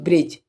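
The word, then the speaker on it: bridge: जैसे याद रखना है जी के पहले जहां भी जी से पहले अगर दी ए जाएगा तो दी क्या होगा साइलेंट होगा ठीक है जैसे एग्जांपल के तोर पे ले लेते हैं हम ब्रिज ठीक है ब्रिज ब्रिज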